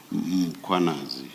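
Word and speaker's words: Mkhwanazi: The a is after the h.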